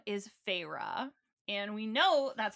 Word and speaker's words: Feyre: So our main character's name is Feyre. And we know that's how you pronounce it because a few people listen on